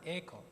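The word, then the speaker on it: εἰκών: Econ es la palabra griego para imagen. Esto se pronuncia, se pronuncia econ.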